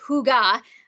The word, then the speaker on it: hygge: so that's good so Huga you could see there it's spelled h y g g um it is pronounced Huga which is a little bit different but that's kind of